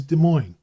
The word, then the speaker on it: Des Moines: Thus, Des Moines is Des Moines.